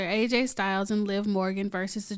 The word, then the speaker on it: AJ Styles: win um next up we've got finn baloo aj steels and liv morgan okay it's gonna be some mark saying you said the name wrong so i did it on purpose i